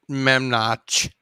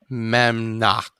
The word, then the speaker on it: Memnock: Jace, don't pronounce it Memnoch when you're speaking to him. Remember to call him Memnock with like a hard K at the end.